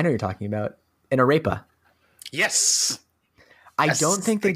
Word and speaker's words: arepa: we stop saying ripe no arepas it's i always pronounce it a repa but uh but yeah it's a food you can google it like it's a-r-e-p-a it's basically like for